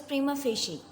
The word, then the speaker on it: prima facie: It all started with a wild, crazy, strange-looking, strictly speaking, prima facie. The pronunciation of this word is prima facie, and Urdu meaning of this word is बज़ाहिर.